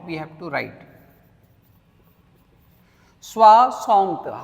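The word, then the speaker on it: soixante: Swasant. How do you pronounce 60? Swasant. This is 60. Huh? This is 60. Swasant.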